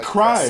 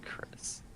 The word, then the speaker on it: Crys: I think it's pronounced Chris.